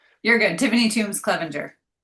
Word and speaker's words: Clevenger: I probably butchered it cuz I'm horrible at names. You're good. Tiffany Tombs, Clevenger. There we go. See, I knew I didn't say it right. I said Cleaver.